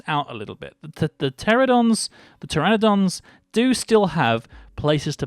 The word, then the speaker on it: pteranodon: go and hatch some pterodons. Yeah, or pteranodons. See, look, I've actually said it right for the first time in the whole series.